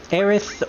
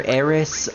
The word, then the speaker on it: Aerith: Aerith or Eris. I prefer the name Aerith, mostly because it just phonetically sounds better, but I do know that some people like calling her Eris, mostly because they grew up with it, but also because it just rolls off the tongue a little bit better for other people.